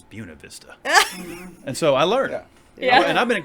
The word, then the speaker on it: Buena Vista: i said i said i said buena vista and he said put your hand out and he whacked me said it's buna vista and so i learned